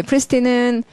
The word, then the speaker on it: pristine: 멋있는 단어 나왔어요 예 프리스틴은 소리가 좋죠 발음 프리스틴 예 프리스틴 크리스틴 프리스틴 사람 이름자 크리스틴 하고 소리 비슷한데 이게 프리스틴의 pri 동그라미가라는